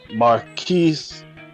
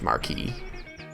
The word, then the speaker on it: marquis: will speak and say marquise is that his fault marquise uh yeah it's it'd be pronounced marquee okay uh marquis valerius